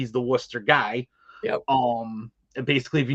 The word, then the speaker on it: Worcester: And yes, Worcester. That's how we pronounce it.